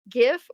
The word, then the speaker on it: GIF: Oh, GIF. Definitely. Because it's Well, don't say definitely. This is There's no definitely here. What do you mean? Graphics interchange format. It's a hard G.